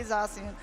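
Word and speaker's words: Zacian: with that methodology zamazenta zachian I was always saying zian at the beginning but please I'm pretty sure that you're you're right it's going to be zian okay and this is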